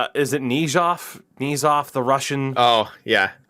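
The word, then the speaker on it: Knyzhov: Correct me on the pronunciation. Is it Nizhov? Nizhov, the Russian? Oh, yeah. Knizhov.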